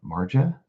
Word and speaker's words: Marja: I'm going to say Marja. Marja? Maybe the J is silent.